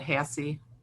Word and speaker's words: Hasse: I don't mess it I pronounce that Hasse Hasse okay one thing I